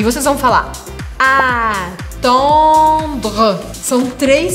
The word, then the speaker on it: attendre: Não é o han, como em português, an, an. É um pouco diferente, porque a gente precisa abrir um espaço maior. Então, attendre.